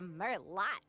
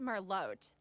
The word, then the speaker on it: Merlot: Good thinking with the Merlot, Erin. It's pronounced Merlot. Learn French, Tabby.